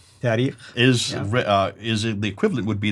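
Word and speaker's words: تاريخ: And then the last genre, the tarikh.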